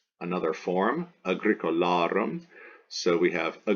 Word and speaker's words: agricola: on the anti peanut okay Kido okay Kido Agricola Agricola here we have anti peanut peanut ultima